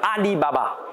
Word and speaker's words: Alibaba: cela dépend de vous pour ali baba ça se prononce exactement pareil en chinois alibaba les caractères sont juste